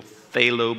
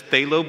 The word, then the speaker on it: phthalo: That's phthalo blue, and on your palette, it's labeled PHB. I know that's a F, but it's pronounced F.